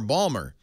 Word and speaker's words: Baltimore: hey this is a this is a state where they pronounce Baltimore Balmer so the people who